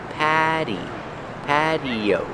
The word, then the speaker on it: patio: we're at the outdoor patio this is an outdoor patio pronunciation patio the tea is pronounced with a fast D Patty patio this is an outdoor patio